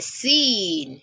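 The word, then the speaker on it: سين: Its pronunciation is quite similar to that of letter S in English. So you pronounce sin as in seen, seen, just as in son, socket, sight, so. So seen, seen, seen.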